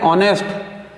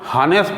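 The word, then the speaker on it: honest: ही इज ऑनेस्ट बॉय, अब यहां लिखने में भले ऑनेस्ट एच आ रहा है पर इसका साउंड हॉनेस्ट नहीं बल्कि ऑनेस्ट है, ठीक है, साउंड ऑनेस्ट, वॉवेल साउंड है इसलिए एन यूज करेंगे।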